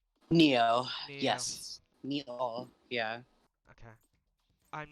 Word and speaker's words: Nioh: soul suspect neo nioh is that how that's pronounced neo yes yeah okay i'm not playing out last